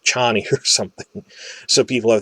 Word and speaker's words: Chani: Like, I always say Chaney when it's really Chani, so forgive me if I slip into that.